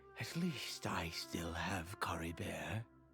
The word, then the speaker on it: Caribert: least I still have Cory bear Carrie bear so you don't pronounce a t um what do you